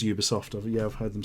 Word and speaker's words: Ubisoft: Yeah, it's pretentious thinks it's that, but I've actually asked their PR company how you pronounce it. It absolutely is Ubisoft.